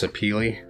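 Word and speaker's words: sapele: I know technically this wood is pronounced sapili, but I'm not doing that.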